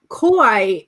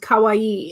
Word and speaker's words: kawaii: i'm pronouncing that correctly kauai is like scary and kawaii is cute okay kawaii sorry she's